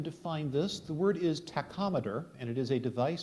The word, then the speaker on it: tachometer: go ahead and Define this the word is tachometer and it is a device for indicating speed